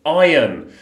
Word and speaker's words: iron: and it is an iron iron be really careful with the pronunciation of that one it's got a silent r iron iron and ironing yes ironing